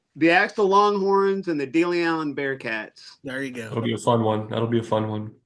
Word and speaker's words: De Leon: look at it and if you pronounce it De Leon, you're not wrong. But if you're from that little patch of Texas, a lot of people call it De Leon.